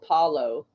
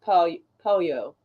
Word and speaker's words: pollo: I, well, I mean, it helped that you explained it because, like, I thought it was Paulo, which I mean, it looks like it would be, but pollo.